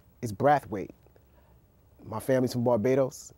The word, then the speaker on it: Brathwaite: And my last name is Brathwaite. My family's from Barbados. If you went to Barbados, they wouldn't pronounce it right. They say Braffit.